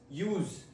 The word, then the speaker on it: use: The first one, use, use, use. Ending in SS, use. Meaning, the act of using something.